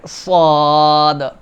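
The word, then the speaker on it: صاد: এরপরে সাদ, সাদ, এই দেখেন ঠোঁট দুটো এরকম ফাঁকা হয়ে যাবে, দাঁতটা বেরোয় যাবে, মাঝ বরাবর উচ্চারণটা আসবে, ঠোঁট গোল হবে না কিন্তু ঠোঁটটা আড়াআড়ি হয়ে সাদ, সাদ।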